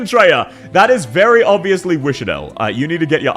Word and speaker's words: Wishadel: That's very clearly Wishadel. Oh, what? I pronounced it right?